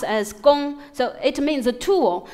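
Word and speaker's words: 工: This character is pronounced as gong, so it means a tool.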